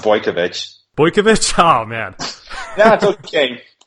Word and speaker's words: Bojkovic: a talented young up-and-comer from particle effect Marco Bush Kovac it's pronounced boy kovitch boy camacho man that's okay people mispronounce it